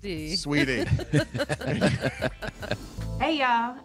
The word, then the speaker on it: Saweetie: Pronounced Saweetie. Sweetie.